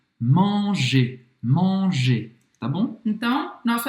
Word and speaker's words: manger: Voltando no nosso verbo, ER no final de um verbo se pronuncia E. Manger.